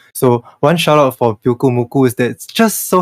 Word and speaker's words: Pyukumuku: a Japanese player playing Pyukumuku and then he totally forgot how to pronounce it. So he said like Pyumukyu.